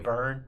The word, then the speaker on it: Byrne: David Brin for president, you know what I mean? Oh man, boy. Byrne. I probably butchered that one.